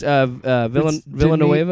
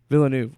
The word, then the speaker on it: Villeneuve: Dennis Villanueva. It's I'm not trying to be funny. I'm legit. Like, Denis Villeneuve. Villeneuve. Wow, I was way off.